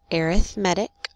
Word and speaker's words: arithmetic: lesson is about arithmetic sequences that's how you pronounce it arithmetic and these four are all examples of arithmetic